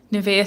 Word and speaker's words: Niamh: Um, oh, it is pronounced Neve.